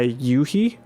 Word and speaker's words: u-he: I really like it's made by yui u-he is how it's spelled but I've used Diva